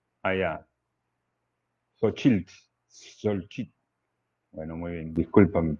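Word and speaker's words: Xóchitl: Se pronuncia con S. Allá. Xochitl.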